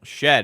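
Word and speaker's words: Shead: I mean, Jamal shed is spelled Sheed.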